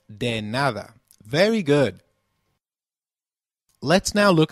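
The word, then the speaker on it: de nada: or the reply to thank you translates to deada Loosely meaning don't thank me for anything so can you try saying deada it's called denada very good let's now look at the final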